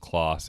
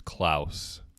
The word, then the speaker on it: Claus: the producers ears that it is not pronounced Claus it's klous that's what I said